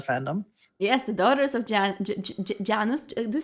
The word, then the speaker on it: Janus: Do you say Janus? Or I say Janos, but Janus. I think I don't really think it matters. I was going to say it differently, but now I realize it was very bad pronunciation.